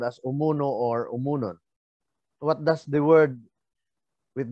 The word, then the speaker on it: Homonhon: Now, the name that is properly pronounced as Umunon means that this island abounded in Umu honeycombs.